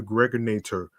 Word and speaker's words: Gregorator: This is your man and homie aka the Gregorator rhymes with now or later.